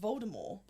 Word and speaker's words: Voldemort: Voldemort is pronounced Voldemort.